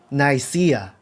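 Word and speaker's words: Nicaea: 영어로는 나이시아 이렇게 발음하더라고요.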